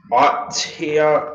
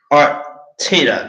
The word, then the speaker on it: Arteta: It's also directed by Miguel Artia. I can't pronounce his last name too well, but Arteta. That's how you pronounce the name.